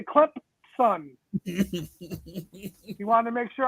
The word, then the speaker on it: Clemson: Clemson with a P, because they say it like they have a P. It's spelled Clemson, but you have to say Clemson son.